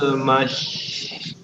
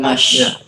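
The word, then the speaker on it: المس: Kama yakumul ladzi yatakhabbatuhu syaitanu minal mas. Masih. Ingat yang terakhir huruf sin biasa bukan shin. Mas bukan mash.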